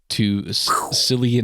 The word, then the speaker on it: Cillian: Chandler, for all the shit I've given you, yes, I do love Cillian Murphy. That is how you pronounce it, I'm pretty sure. Not Cillian.